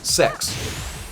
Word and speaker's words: CEX: It's called Computer Exchange, CEX, but it's actually legitimately pronounced sex.